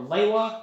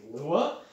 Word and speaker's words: Lewa: note on that uh there's always a bit of discussion on whether it's "Lee-wa" or "Lay-wa" or in the case of the movie "Lou-wa" uh it's spelled as the L-E-W-A um and i always said it was "Lee-wa" but according to most of the books it's written out as "Lay-wa" but because, because if